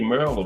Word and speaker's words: Maryland: Everybody say Maryland, but that's what it was. Maryland. That's how it's supposed to be pronounced.